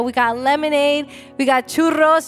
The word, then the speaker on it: churros: We got lemonade, we got churros. You gotta roll your R when you order it.